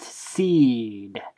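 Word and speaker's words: Sidh: thank you Wikipedia but it's pronounced seed as in the seed elves they're not called the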